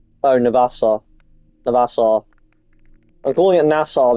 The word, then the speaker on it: Navassa: Wait, is that Nassau? Oh, Navassa. Navassa. I'm calling it Nassau because that's how they pronounce the town, and that's spelled very, very similar.